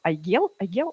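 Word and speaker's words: Aigel: Вот недавно я прочитала про очень классный кейс группы Айгел, да, правильно произносится, которая уже после, кстати, очень популярная, записали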